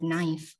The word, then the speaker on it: knife: There's a letter right there. It's the first letter. Why put it there and not pronounce it?